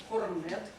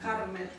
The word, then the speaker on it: корнет: Оно как пишется, так и поется. Аромат. Мы с Машей бились, а сейчас я слышу аромат все равно. Аромат, строить стиль. Есть некоторые слова в академической манере пения, да, которые как пишутся, так и произносятся. Допустим, вот слово аромат, корнет. Мы не говорим кармет, как пишется, так и произносится.